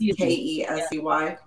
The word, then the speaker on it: Kesey: So Kesey, I want to say how to pronounce it. It's Kesey.